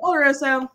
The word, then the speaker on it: oloroso: I keep saying Oloroso. It's Oloroso, right? I've heard you pronounce it. Oloroso.